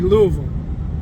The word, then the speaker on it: Louisville: But any town that ends with Ville, V-I-L-L-E, like Knoxville, Louisville, Greenville, Nashville, it's pronounced Vol. So like Greenville would be Greenville. Louisville would be Louisville. That's the way they pronounce those towns. So if you want to sound like a native, you got to use the Vol.